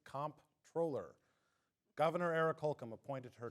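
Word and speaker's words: comptroller: state comp troller and yes for those who are wondering it is pronounced in this case comp troller Governor Eric hul appointed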